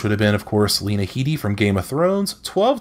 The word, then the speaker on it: Lena Headey: with TV which would have been of course Lena Headey from Game of Thrones 12 to 11 miss